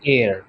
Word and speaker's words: heir: ঠিক একইভাবে এখানেও HEIR এর মধ্যে এইচটা সাইলেন্ট, তাহলে এটার উচ্চারণটা কি হবে? এটার উচ্চারণ হবে এয়ার। উচ্চারণ কিন্তু হেয়ার হবে না, এটার উচ্চারণটা হবে এয়ার।